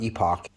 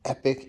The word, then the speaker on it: Epic: Those of you who want to add digital gauges to your Epic or Evo, and it's pronounced Epic, not Epoch.